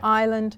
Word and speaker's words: island: silent so for example we talked about subtle yeah an island so the B and the S is silent there so what I what